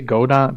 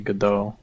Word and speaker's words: Godot: I say go dot because I hate the people who made this engine and they say GDO.